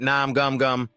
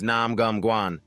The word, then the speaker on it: Nam Gum Guan: He suddenly calls out but gets his name wrong. Hey, you idiot Nam Gum Gum. Guan corrects him. My name is Nam Gum Guan.